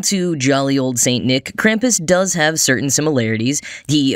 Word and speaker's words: Krampus: increasingly in recent years, Krampus. Or Krampus, if I were to pronounce it slightly more correctly.